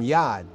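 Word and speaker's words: יד: demonitive right denominator from yad you know what yaddas yad or yard yard means a hand that's why it says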